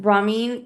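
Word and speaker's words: Ramin: Um, Nicole Sherzinger, Ramen Carimlu, I always say his name wrong. Remember when I pronounced him as Ramen a few episodes ago?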